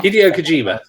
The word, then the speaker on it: Hideo Kojima: And Hideo Kojima, I can't pronounce this now. Kojima. Hideo Kojima.